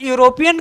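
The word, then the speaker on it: European: और अगर एन लगा देंगे तो ये हो जाएगा गलत, क्योंकि यूरोपियन का जो उच्चारण है वो कॉन्सोनेंट का है।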